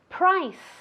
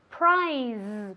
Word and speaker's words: price: Muy importante decir esta palabra con un sonido S, ¿vale? Price. Nunca prize, porque eso es premio, ¿vale? Entonces mucho cuidado. Price, con una S española, ¿vale?